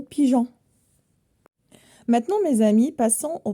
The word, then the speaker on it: pigeon: montagne la montagne pour que la lettre G se prononce je devant a et U donc il faut ajouter un e par exemple le mot pigeon maintenant mes amis passons